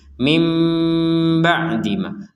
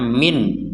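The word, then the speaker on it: من بعد: sukun dengan ba ini maka kita membacanya dengan Nun sukunnya dibaca dengan mim mim ba'dima mim ba' seperti itu Jadi jangan sampai dibaca Min Nah apakah boleh dibaca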